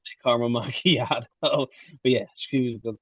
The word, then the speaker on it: macchiato: It was like a caramel macchiato. She kept going caramel machapato. She said caramel machapato. We would order her like, French vanilla with cream instead until she learned how to say caramel macchiato.